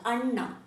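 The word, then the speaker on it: ಅಣ್ಣ: so very important here the pronunciation of a has to touch upper P of your mouth Anna if you say Anna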